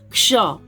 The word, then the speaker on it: क्ष: आगे देखते हैं, तो यहाँ पे ये अक्षर है जिसका इंग्लिश होता है KSH, और इसको बोलते हैं क्ष, क्ष, क्ष। ध्यान से इसका उच्चारण, कोई छ पढ़ देते हैं छ, तो ये छ नहीं है, क्ष है, क्ष, क्ष।